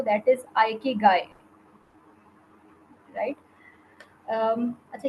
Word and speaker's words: Ikigai: वाकई इसको किस तरह से सही तरीके से प्रोनाउंस करना है, तो दैट इज़ आइकिगाई, राइट।